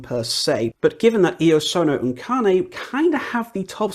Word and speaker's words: Iosonouncane: Iosonouncane, because now I actually know how to pronounce it and don't do that stupid British thing of trying to pronounce it like it's an English word.